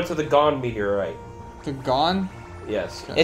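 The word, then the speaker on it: Gohn: The gone? Yes. Okay. It's towards the bottom, ish. G O H N, or the gone, however you want to pronounce it.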